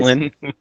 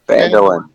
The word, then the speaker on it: Phandalin: Mandolin. I don't even know. Somebody help me out with the names here. I don't even know. Phandalin. It's just like it's Phandalin. spelled. Is It's just like it's spelled.